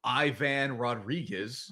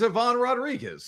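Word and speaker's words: Iván Rodríguez: Nobody called him Ivan Rodriguez. It was Ivon Rodriguez.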